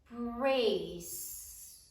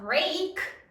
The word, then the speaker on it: brace: Brace. There's a rule. The C says before the E, I, or Y. So it's not break, it's brace, the soft C.